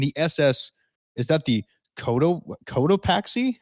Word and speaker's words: Cotopaxi: Flight 19 and the SS, is that the Cotopaxi? How do you say that? I think you got it right. Cotopaxi.